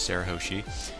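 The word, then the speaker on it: Shirahoshi: actually asked that cu he still does not pronounce her name right it's Sarah hosi and well Cammy says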